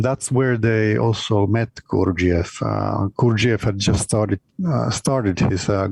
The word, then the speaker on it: Gurdjieff: Is it George Ivanovich Gurdjieff? Well, we can just talk about Gurdjieff. Gurdjieff. That's good. Yeah. My American pronunciation again.